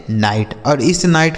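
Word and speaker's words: knight: आगे लिखा है के एन आई जी एस टी से पढ़ा जाएगा नाइट।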